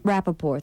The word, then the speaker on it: Rappaport: Rappaport, thank you, from He's a- inside his car.